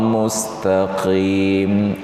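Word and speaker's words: مستقيم: Maka ada yang mengingatkan ihdinas siratal mustaqim. Maka antara mus dengan taqim itu tidak boleh berjeda.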